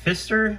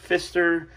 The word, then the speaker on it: Pfister: of the screen it's uh I believe it's pronounced Fister it's p-f-i-s-t-e-r and it actually took me a